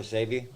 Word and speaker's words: Sebi: Is that how you pronounce it? Yeah, Dr. Sebi.